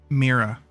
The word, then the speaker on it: Mira: Mira. Mira, thank you. I know it was a rah sound at the end.